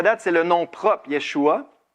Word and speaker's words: Yeshua: Maintenant, ce qu'on a parlé jusqu'à date, c'est le nom propre, Yeshua. Ici, vous avez la prononciation, Yeshua.